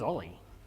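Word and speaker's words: o11y: Uh, often written as 01 Y and pronounced Ollie in the style of Kubernetes being KHS or Kates.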